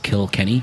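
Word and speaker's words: Kilkenny: kokanee and a Josie mad - because it's kill Kenny kill means Church charge of Kenny oh you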